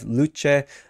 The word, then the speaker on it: Luce: the Holy year 2025 luche Italian for light I'm pretty sure that's how you pronounce it luche says the mascot